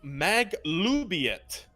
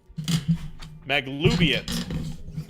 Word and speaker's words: Maglubiet: You have identified that is actually the symbol of Maglubiet, the Battle Lord, a god worshipped by goblins. It's spelled Magluyet. I was so close. How was it? M-A-G-L... L-U-B, the letter I, and then Y-E-T. Maglubiet, Nice.